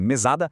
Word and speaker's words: mesada: Mas quando a gente transforma isso em mesada, a arquitetura muda toda. A sílaba forte vira o sá, mesada.